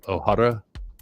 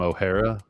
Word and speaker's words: Ohara: a show called oh Ohara Ohara and everyone everyone mispronounced it they all called him O'Hara and he's like it's Ohara but it was basically uh